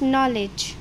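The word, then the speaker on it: knowledge: के की साउंड है वह क्या हो जाएगी साइलेंट हो जाएगी नेक्स्ट है हमारे पास नॉलेज सेम एन से पहले के है तो के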